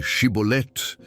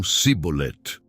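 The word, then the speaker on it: שיבולת: Dize pois, chibolete, ordenavam, mas a peculiaridade dialetal dos efraimitas os impedia de pronunciar o xi inicial. Em vez de shibolet, eles diziam cibolet.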